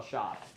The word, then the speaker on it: Shopp: And White Hill Shoppy? It's just shop. Shop. Okay, it's shop, but it's spelled.